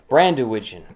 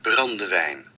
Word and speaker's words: brandewijn: Its name is derived from Brandywigen. Brandywine? Pronunciation pig. Brandewijn.